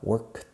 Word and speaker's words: worked: Una sola sílaba, difícil de pronunciar para vosotros, lo sé. Sonido de K, worked, y luego sonido de T juntos.